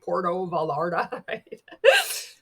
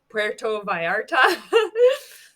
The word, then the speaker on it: Puerto Vallarta: saying it right my dad would be like Porto valardi Puerto Vallarta you earned it luxury cars qualify you've earned